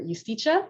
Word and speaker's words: Justitia: He is a Danish lawyer, human rights advocate, and the founder and director of Justitia, or Justitia, maybe is the Danish pronunciation.